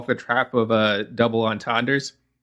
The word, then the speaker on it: entendre: the trap of double entendres. Did I say that right? I don't know. Non parlez-vous français? Entendre, right? He did say it right.